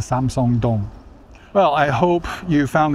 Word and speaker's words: Samseong-dong: But just know that Samsung doesn't own this station, the company. They own a lot of stuff, but they don't own the subway station here. Okay, it's named for the neighborhood. This is Samsung Dong.